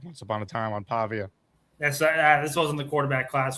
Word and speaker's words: Pavia: I believe that is Diego Pavia, or Paiva, however you want to pronounce his last name.